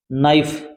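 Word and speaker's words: knee: next देखिए आप क्या दिया गया इसमें भी नाइफ यह मैंने बताया था के के साथ में एन आता है तो के साइलेंट रहता है इसको क्या बोलोगे आप नाइफ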